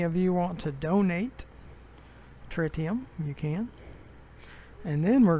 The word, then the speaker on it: tritium: and start delivering tritium that's what frontier says the pronunciation of it is tritium not try TM tritium so we're going to